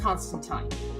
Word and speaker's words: Constantine: So it's a word constant I and according to uh according to Alan Moore it was pronounced Constantine.